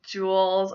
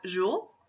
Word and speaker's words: Jules: hundreds my next Julian alternative I have is Jules which is the French forum of Julius meaning Downey bearded again oh I love those names so much this can also be pronounced jewels most people are going to associate this with